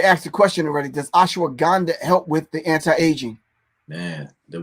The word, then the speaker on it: Ashwagandha: Does ashwagandha help with the anti-aging?